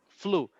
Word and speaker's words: flew: um this one this every time that you have the combination ew is pronounced like like ooh not like like you it's like for example